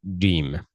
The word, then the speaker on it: ج: So alim is pronounced by raising the middle the middle of the tongue to the roof of the mouth.